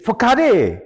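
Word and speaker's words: façade: He said, "Facade!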